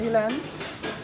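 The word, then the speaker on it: Élan: Maru so yeah um the single Elan is that the right pronunciation Elan yeah Elan also based on a quote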